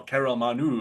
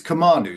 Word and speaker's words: Kamanu: Carol Manu. I'm thinking Kamanu Samoa and those kind of things. It's Kam. It's Kamanu, so it's very close. Yeah. Okay. Less syllables.